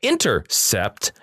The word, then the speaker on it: Intercept: a distant asteroid where intercept i say it like that because it's all capitalized this s the c-e-p-t is capiz intercept attempted to place the